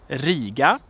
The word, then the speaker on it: Riga: So we have the city Riga. Riga. Long consonant, long vowel, I'm sorry, and a short consonant.